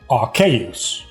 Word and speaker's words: Arceus: But then I realized, okay, so the name is a combination of Archangel and Deus from being God. So it's really Arceus is the most proper pronunciation based on like the parts that make up the name.